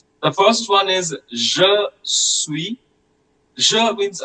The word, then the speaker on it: suis: You can either say je suis Indien, or you can also say je suis Indien. The last S of the word suis is usually silent, but we can at